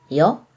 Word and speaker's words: য: Yo. Yo is pronounced like in yes or yeah in English.